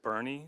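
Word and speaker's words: Boerne: i'm wrong i think i think you pronounce it bernie texas yeah that's correct it is correct okay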